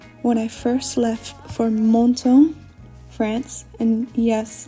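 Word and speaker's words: Menton: I first left for Monto France and yes I will pronounce that with a French accent because I've been corrected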